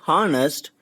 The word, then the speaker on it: honest: When we articulate the word honest, we never pronounce H, rather we create the sound of O, honest.